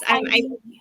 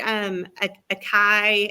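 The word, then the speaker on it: açaí: Acai. I used to call it a kai, and that was wrong.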